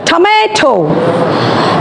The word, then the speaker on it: tomato: The next one is tomato. T-O-M-A-T-O.